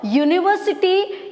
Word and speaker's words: university: Because university is spelled with a vowel U, but pronounced U, Y-O-O-U. It pronounced as U.